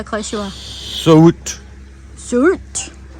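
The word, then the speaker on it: Söğüt: Sogut. Sogut. I'm going for a silent G.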